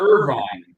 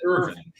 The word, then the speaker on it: Irvin: idiot Chris Irvin know because it's not Irvine oh no you have to pronounce it Irving that that you taking